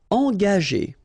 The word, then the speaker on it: engager: Engager.